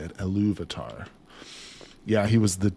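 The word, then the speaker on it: Ilúvatar: Eluvatar.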